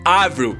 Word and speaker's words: Avril: explica também o porquê a pronúncia certa é Avril e não Avril.